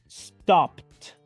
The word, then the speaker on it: stopped: significa parar o detenerse voy a pronunciarlo en pasado simple y diré stopped stopped pronunciando la terminación e d como una letra T